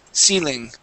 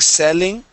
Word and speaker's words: ceiling: Ceiling. Ceiling. Okay, it's going to be a long E sound. Okay, just like a Spanish I. So instead of saying selling, it is ceiling.